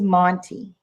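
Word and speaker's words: Montee: n t e e and it's a rose Monty and you can get these you can get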